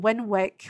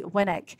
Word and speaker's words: Winwick: And I've been talking with her and I realised that I pronounced it Winwick, which is how it's spelled. But it's actually correctly Winnick.